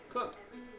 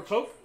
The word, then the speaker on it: Koch: how do you how do you pronounce last name cook cook it's not kotch or coke it's not coke only new yorkers say it's koch i mean i i've